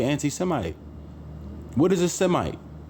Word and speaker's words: Semite: it mean to be a Semite or she might which is the real wording which is the real pronunciation what does it mean to be a shemite that's what you got